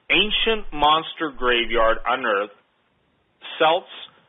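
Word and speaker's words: Celts: monster graveyard on Earth selts create or Kelts some people pronounce it Kelts create hide I'm sorry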